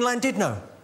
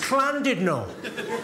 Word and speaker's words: Llandudno: out, I said, it's lovely to be in Llandudno. This guy, front and centre, where you're sitting there, face like fucking thunder, went, it's not Llandudno, you bloody fool. It's Llandudno.